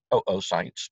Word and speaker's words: oocyte: So by puberty, there are about 400,000 oocytes total. That's the way it's pronounced in the U.S. If you're from Canada, they pronounce it oocyte.